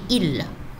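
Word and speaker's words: ils: Il, elle, il avec S, c'est pour le pluriel, mais on ne prononce plus le S, on dit il.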